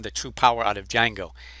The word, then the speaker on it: Django: and by the way the d is not pronounced just django and what i like